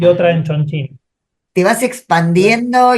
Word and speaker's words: Chongqing: Estás en Sí, Shanghái y sí, en y en Chongqing. Chongqing. No sé si lo Sí, y pronuncio en bien. Chongqing.